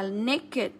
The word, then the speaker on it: naked: Đều đọc là ịt hết. Sorry. Ok. Thì cái này là hatred, cái này là naked, khỏa thân đúng không ạ?